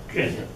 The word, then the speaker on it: Qin: complicated this is also sometimes rendered q-i-n pronounced of course kenya of course the qin